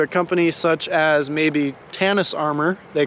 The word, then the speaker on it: Tannus: to get into a company such as maybe Tannus Armor, they call it. It's spelled T-A-N-N-U-S, Armor.